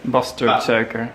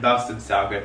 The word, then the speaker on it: basterdsuiker: Bastard sugar. Bastard sugar. Thank you, Isha, for the pronunciation.